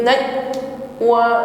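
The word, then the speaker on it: نجوى: Min najwa, bukan tertahan, pantulkan. Naj, ya, pantulannya ringan, ya, qalqalah sughra, bukan tertutup pada huruf hamzah. Naj, bukan najj, ya, ringan saja.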